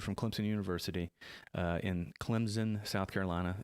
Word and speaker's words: Clemson: clemson university uh in clemson south carolina you say it with the p but it's spelled c-l-e-m-s-o-n um and from key